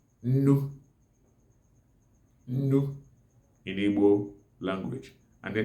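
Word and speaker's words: nnu: Nu in Igbo language. And the nu is spelled as ne-ne-u.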